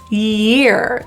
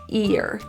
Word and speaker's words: year: e and two year the main issue here is the Y sound in this case often people will drop it and it will sound a lot like ear ear ear and year is different because the middle of our tongue is going way up to the high part of the palette and it's creating kind